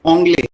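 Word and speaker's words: Anglais: One thing जूही, यहाँ पे ओंगले, देखो एन को ओ बोलते हैं, आपने लिस्ट में बनाया है वॉवेल वाला, एन को ओ बोलते हैं और ए आई को ए बोलते हैं, और लास्ट लेटर प्रोनाउंस नहीं होता, तो ओंगले, ओंगले।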